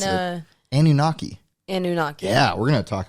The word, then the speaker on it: Anunnaki: Anomaki. It starts with an A, baby. Oh. I still know how to pronounce it. Anunnaki.